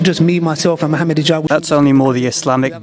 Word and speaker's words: Mohamed Higgab: They sometimes pronounce the J as G, and so it's actually Mohamed Higgab. We set up this organization, not just me, myself, and Mohamed Higgab.